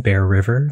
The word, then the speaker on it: Bear Ryver: If you throw an at in front of my name, Bear River, like the animal and the water, but spelled with a Y, then you'll find me all over the internet.